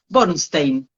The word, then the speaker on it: Bornszten: cuando querés que sí te lo escriban bien bornstein por favor Pues cuéntanos un poco más de